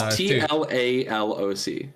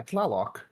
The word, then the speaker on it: Tlaloc: No, it's TLALOC. Yeah, Tlaloc. I thought it was. I probably pronounced that Tlaloc because it's an Aztec word.